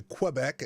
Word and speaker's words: Quebec: everyone likes to use a French pronunciation of Quebec, as opposed to Quebec, as we say in the States here.